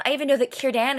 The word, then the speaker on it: Círdan: I even know that Círdan is pronounced with a K sound.